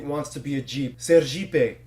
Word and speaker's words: Sergipe: Sergipe, because, in Portuguese, ser means be, and Jeep is how you pronounce it.